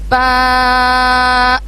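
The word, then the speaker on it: ב: اس میں ہم دونوں ہونٹوں کو اچھے سے جڑائیں گے اور پھر ادا کریں گے با.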